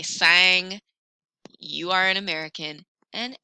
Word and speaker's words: sang: This word sang, I don't hear the G on the end. Sang. That word means blood. And if you say sang, you are an American and everybody knows it.